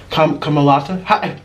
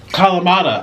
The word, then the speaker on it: Kalamata: Kamalata? Orlin, how do you say this? Kalama. Kalamata.